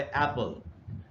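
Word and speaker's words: apple: दूसरा जो वर्ड है वो है एप्पल। अब अगर आप इसकी स्पेलिंग को देखें तो इसमें दो वावल्स है, एक है ए और दूसरा है ई, लेकिन ई इसमें साइलेंट है। तो इसमें वावल तो एक ही है, लेकिन अगर आप वावल के साउंड्स को सुनेंगे तो इसमें दो वावल्स के साउंड्स हैं।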